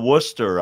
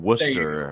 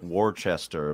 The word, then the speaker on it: Worcester: it's like we've got Worcester up here where I'm from Worcester it looks like War Chester but that's not what it is uh Brad uh we're